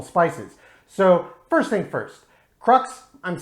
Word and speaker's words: Crux: so first thing first crux i'm saying that because i assume that's how most people would pronounce it crooks is really the correct pronunciation of the word so i might use